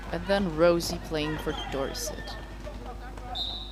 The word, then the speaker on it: Dorset: And then Rosie playing for Dorset. Am I pronouncing it right? Dorset? Dorset, right? Dorset, yeah.